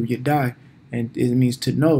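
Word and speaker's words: ידע: That's how you say it in Hebrew, you die.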